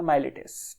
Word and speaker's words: Miletus: 3 philosophers एकजुट आए, ठीक है, 3 फिलोसफर्स आए, जो कि एक जगह थी, MILETUS, स्पेलिंग देख लेना, माइलेटस, ठीक है।